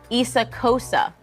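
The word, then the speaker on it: Xhosa: language but it's essential in my language it's pronounced your language when trying to say this right Issa Cosa right one of the official languages of South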